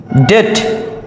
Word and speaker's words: debt: এরপরে বি এর পরে যদি টি থাকে, টি, বিটি, সেক্ষেত্রেও আমরা বি এর উচ্চারণ করব না।